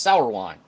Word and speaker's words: Sourwine: Oh, okay, so it's pronounced sour wine.